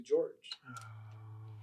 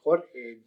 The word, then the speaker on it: Jorge: Not knowing a word in English, my first grade teacher changed my name from Jorge to George. And George is spelled George. My name is Jorge, Jorg.